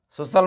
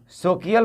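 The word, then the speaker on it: social: तो क्या सोकियल पढ़ेंगे? फेकियल, रेकियल? जी नहीं, सोशल, फेशियल, रेशियल, ऐसे होता है।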